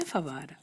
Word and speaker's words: فوارہ: بنتا ہے فے واو، لیکن واو کے اوپر ہے تشدید، تو یہ واو ہمیں 2 بار پڑھنا ہے۔ فے واو فاو، پھر